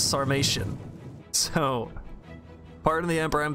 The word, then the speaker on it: Sarmatian: going up against another samaritan horse archer you're going up against the armored horse archers i think somebody actually told me i was pronouncing this wrong and i definitely am it's sarmatian so pardon the emperor